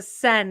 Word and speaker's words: Seine: The Seine is how they say it.